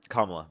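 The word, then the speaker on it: Kamala: everything you agree with with the Camala Harris, for example, with her policies. Huh? Kamla. Just just telling you. Or you could just say Harris. Okay. I didn't know I pronounced it wrong.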